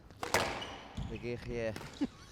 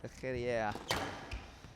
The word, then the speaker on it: Le Guerrier: Le Guerrier. Sound like it's a special R in French.